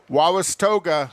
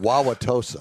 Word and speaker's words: Wauwatosa: around the village of wawas toga wawas tosa wisconsin wow i can't pronounce it wauwatosa wauwatosa so um and that was